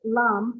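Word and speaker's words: लं: lam for Muladhara chakra, it's got the la and then the dots over top. And that's the M sound at the end of it. Lam, lam. And that's supposed to be rather nasally, Dr. Ananda says, for the effect of that.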